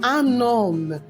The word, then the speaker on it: homme: Un homme. Un homme. Okay? What happened to the H? The H is what? Silent. So it's pronounced as what? Un homme.